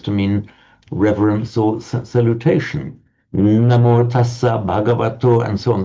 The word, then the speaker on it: namo: So the namas in Sanskrit on its own would be pronounced namah, but namas is the stem form, becomes namo in Pali.